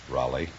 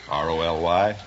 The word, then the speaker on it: Roly: Raleigh. Really? No, Raleigh. You realize, of course, that we can be sued by Abbot and Costello. How do you spell it? R-O-L-Y. Oh, Roly. And you pronounce it Raleigh?